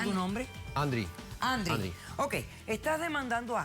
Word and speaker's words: Andrick: ¿Cómo se pronuncia tu nombre? Andri.